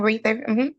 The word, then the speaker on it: Reether: I'll walk up to Reether and say, I'm pronouncing that right, correct? Reether? Yes, ma'am, Rether. Okay, thank you, Reether, sorry.